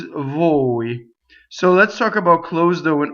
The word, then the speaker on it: voi: An Italian speaker would say bowie, like there's a bowie on the, as opposed to a girl, right? So this is voi.